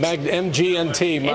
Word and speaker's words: Magnit: The name of that company again, Magnet. Magg Net. It's spelled like magnet, right?